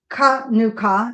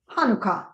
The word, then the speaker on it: Hanukkah: The Hebrew word is actually pronounced with the guttural sound, Hanukkah, not Hanukkah.